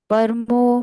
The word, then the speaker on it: परमो: उद्भव शोभणो देव इति परमो मंत्रो नहीं परमो प और र का उच्चारण पूर्ण पमो पर मैंने परमो पढ़ा परमो को हिंदी में पढ़ते हैं लेकिन संस्कृत में पूर्ण उच्चारण होना ही चाहिए प पर पर म